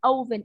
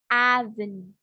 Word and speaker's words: oven: will fix the for your pronunciation is not oven it's aven okay yeah i've been